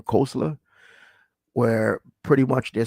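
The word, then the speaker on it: Koestler: tribe um the 13th tribe by Arthur kosa pronounce his name kosla where pretty much they're saying that uh historically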